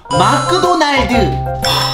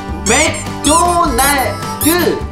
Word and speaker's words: 맥도날드: 아, 도가 아니고 드. 그러면 맥도날드. 아니요, 그 앞에는 도가 맞고 뒤에가 드라고요. 아, 앞에는 도가 맞고 뒤에가 드. 그러면 마크도날드. 아니, 왜 또 맥이 마크가 된 거야?